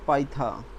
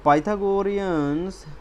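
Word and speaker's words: Pythagoreans: पाइथा नॉट पथा पाइथा तो पाइथागोरियंस proved that 2 square 2 is irrational.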